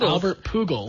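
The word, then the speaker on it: Albert Pujols: all right phol ties Angels club Rec it's pronounced Albert pugal P that's right uh ties the Angels club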